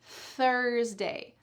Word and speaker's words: Thursday: Listen to me say the word Thursday. Thursday, Thursday. It's just air. I'm not saying th. That's the first one that we just practiced. This has no voice. There should be not really any vibration happening. Instead, just a long, lovely stream of air coming out.